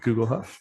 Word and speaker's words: Guglhupf: my new restaurant uh and bakery it's called Google huff and their own North Carolina and Chapel Hill Google Huff how do you spell that g-u-g-l h u p f are you